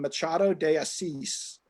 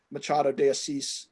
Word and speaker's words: Machado de Assis: And I had to look up how the name is pronounced because it's a Brazilian Portuguese name. And it's by an author from the 19th century named Machado de Assis.